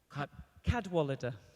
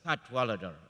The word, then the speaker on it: Cadwalladr: We have Madam Carole, I don't know how to pronounce it. Cadwalladr. Cadwalladr, okay.